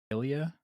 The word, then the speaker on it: Ilya: Him and is it Ilya?